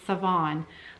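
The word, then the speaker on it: Sevan: It is Savon, like seven.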